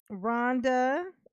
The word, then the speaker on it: Rhonda: Rhonda, oh, that's funny. It's spelled like Ron, R-H-O-N, and then duh, like duh.